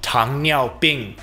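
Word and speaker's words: 糖尿病: Ancient Chinese medical texts describe sugar urine disease, whose pronunciation tang niao bing preserved into Japanese and Korean.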